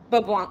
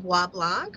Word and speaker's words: Bois Blanc: Now, if I were to say it like a Louisianian, mm-hmm. I mean, it would be Boblanc Island. Yeah, I've been calling it Bois Blanc, but that's not correct.